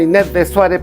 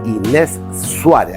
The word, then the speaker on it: Inés Suárez: Todos la llaman Inés de Suárez, pero el apellido es Inés Suárez, así se pronuncia.